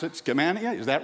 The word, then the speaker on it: Skamania: And look at some of these more exurban counties like Columbia, Yamhill, and I'm sure I'll mispronounce it, Skamania, is that right? Skamania, okay, I'll never make that mistake again.